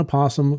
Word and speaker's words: opossum: possum is preferred opossums can be pronounced with its first syllable either voiced or silent so we were both